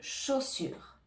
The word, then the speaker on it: chaussure: mot chaussure chaussure ici on a le CH qui donne le son che le a et le U vont donner le son o comme le O en français chaud sur attention on ne prononce pas le E à la fin de chaussur on ne dit pas chaussure on dit chaussure donc ici tu dois bien prononcer le U en français le U la langue